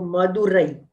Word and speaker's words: Madurai: And E are pronounced separately. Okay. So Madurai. E, Madurai.